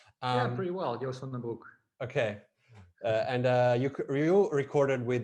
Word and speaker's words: Joost van den Broek: because you have worked again with the producer Jus van der Broek. I don't know Yeah. how it is pronounced. Yeah, pretty well, Joost van den Broek.